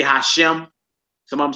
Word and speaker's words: Hashem: We not scared to pronounce the name of our God. Yeah, they say Hashem.